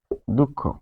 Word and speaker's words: দুঃখ: বিসর্গ এর উচ্চারণটা কিরকম, যে শব্দের মাঝখানে যদি বিসর্গ থাকে, বিসর্গ থাকলে শব্দের মাঝখানে বিসর্গ থাকলে যে পরবর্তী ব্যঞ্জনকে পরবর্তী ব্যঞ্জনকে দ্বিত্ব করে। কিরকম? তো দেখা যাচ্ছে দুঃখ একটা শব্দ আমরা লিখব, দুঃখ।